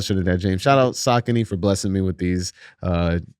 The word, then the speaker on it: Saucony: So at one point they put the phonetic spelling on the box and was like, this is how you say it, Saucony.